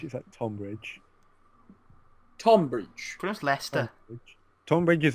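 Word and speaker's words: Leicester: the playoff Stana Lester see you can say Lester but all the people in the US would call them white Chester yeah that's terrible oh okay do you know well it's how it's spelled do you know it's not oh it's not I have no idea yes it is it's l-e-i-c-e-s-t-e-r there's no test there's no h there's no h like Hester then I'll say it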